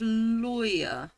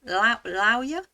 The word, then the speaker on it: lawyer: How do you pronounce the first syllable of lawyer? Loy boy. Loy boy. Oh, rhymes with flow. Lower. Lawyer? Lawyer? I don't know what they mean by that. It would be loy as in boy.